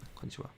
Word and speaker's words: こんにちは: Although the hiragana character for ha has an H, there are times when it is pronounced wa instead. Specifically, it is pronounced like wa when it is being used as a particle.